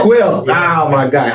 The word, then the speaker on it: Kuel: Peter Kuel, yes. Quill.